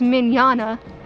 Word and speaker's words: Mignogna: First, you might want to know who Vic Mignogna, pronounced Mignogna, because I just fudged that one up.